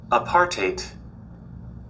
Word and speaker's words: apartheid: This is how you pronounce the word. Apartheid.